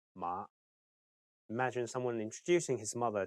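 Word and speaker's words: 馬: In Cantonese, mother is ma and horse is ma.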